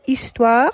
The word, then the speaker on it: histoire: Here we've used L apostrophe because histoire has a silent H at the beginning, so effectively begins with a vowel.